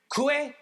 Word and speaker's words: kue lenggang: It's kue lenggang. Kue like kue, right? Yeah. Kue. Yeah.